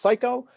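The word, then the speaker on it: Siko: Yes, and given that my last name is pronounced Psycho, last names are very important to me, because when it's spelled S-I-K-O, it's either sicko or psycho, and you can't win with either.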